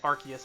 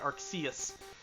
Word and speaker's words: Arceus: Pokemon Legends Arceus, by the way I'll be pronouncing it Arceus and not Arceus, is the latest game in the Pokemon franchise.